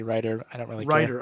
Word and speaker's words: Reiter: probably butchering that well most people say reader i say writer i don't really write